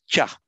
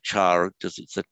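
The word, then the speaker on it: च: very interesting the the the vowel of cha is short um now for english speakers to pronounce the monosyllable with the short final syllable is difficult we tend to say char however however you'll very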